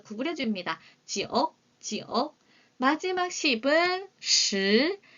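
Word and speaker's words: 十: 시, 스. 발음 헷갈리지 않으셔야 돼요. 4는 스, 10은 시, 4는 스, 10은 시, 1은 2, 7은 치, 1은 2, 7은 치, 6은 레오, 9는 지오, 6은 레오.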